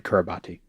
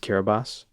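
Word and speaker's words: Kiribati: Somehow all the They should got to name every specific tiny island in Kurabati. It's pronounced kerabas.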